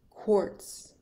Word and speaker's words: quartz: a swarm award award quartz quartz because of the Q it's an o r sound quartz quartz is a